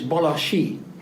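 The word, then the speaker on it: Balassi: is called Bellucci Institute the proper pronunciation is Bellucci as the letter s in Hungarian is pronounced as Sh in English that is why I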